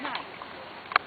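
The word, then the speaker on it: gneiss: It's spelled G N E I SS for now for nice.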